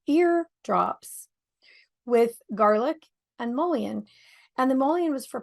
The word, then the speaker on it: Mullein: So that is interesting because we used Mullion for, and I pronounce it Mullion. I know a lot of people say Mullen, but there's a combination